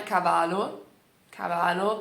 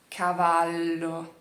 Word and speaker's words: cavallo: Então, não é cavalo parece espanhol, cavalo, mas é cavallo. Tá vendo? Tem essa pausa e esse L que segura, tá bom?